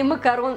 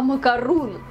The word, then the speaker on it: макарон: рынке маленькая заметка для тех кто считает что макарун или макарон это одно и тоже А ещё хуже те тем кто считает что правильно говорить не макарон А макарун макарун - это совершенно другое пирожное прогули У нас на